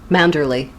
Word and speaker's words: Manderley: How do you pronounce it? Mandalay or Mandalay? Manderley.